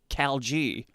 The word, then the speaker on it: Cal G: As well as an Azamir Cleric war domain named Cal G. Rhymes with algae.